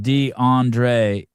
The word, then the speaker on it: DeAndre: Um, a boy's name pronounced D Andre, American origin, modern name, uh, combining Andre with the prefix D prefix D.